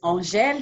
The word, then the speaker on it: Angèle: It is Angèle. Oh, Angèle like Angela. Oh, it's the French version.